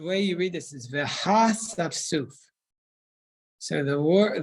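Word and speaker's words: והאספסף: The way you read this is Veha Safsuf. So the word, the aleph in that word does not have a vowel underneath it. At least in my Chumash, so you don't pronounce it.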